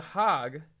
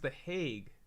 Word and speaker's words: The Hague: the hog let me look at how to pronounce that this is hilarious I was a